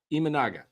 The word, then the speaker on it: Imanaga: I got it phonetically spelled out by Matthew. Imanaga? Imanaga. No, Imanaga.